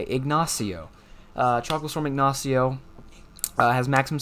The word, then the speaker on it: Ignacio: Then we've got tropical storm Incostio, or I've never been able to say this name right. Ignacio, I think that's how you say it. Ignacio.